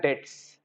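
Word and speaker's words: debts: डेब्ट्स बोला जाता है लेकिन पढ़ा जाता है डेट्स, बी साइलेंट आता है, डेट्स, बैड डेट्स, ठीक है।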